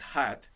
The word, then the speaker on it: hath: মনে রাখবে এই যে HATH, এই যে হ্যাথ বলে যে উচ্চারণটা, সেটা কিন্তু ওল্ড ইংলিশ বা আর্কেইক ইংলিশ, এর বর্তমান প্রয়োগ আর হয় না। বর্তমানে এটা হ্যাজ, অর্থাৎ HAS, THটাকে এস এর বদলে বসানো হতো ওল্ড ইংলিশে, এখন এটা হ্যাজ হয়ে গেছে, তো পড়ার